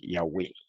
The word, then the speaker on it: Yahweh: La misma pregunta, el rabino yemenita le hubiera dicho, no, como se dice es Yahweh, ¿verdad? Porque ellos lo pronuncian como se pronunciaba antiguamente el hebreo.